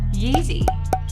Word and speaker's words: Yeezy: Yeezy. It rhymes with easy, like you.